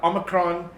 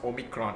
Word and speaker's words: Omicron: today's topic is going to be on the omicron yes it's not pronounced omicron it's pronounced omicron variant of the kovit 19.